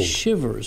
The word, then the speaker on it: Chivers: say your last name shippers like you're cold shivers okay with a C with a seat they'll